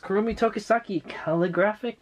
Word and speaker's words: Kurumi Tokisaki: Okay, and there she is, Kurumi Tokisaki Calligraphic Beauty.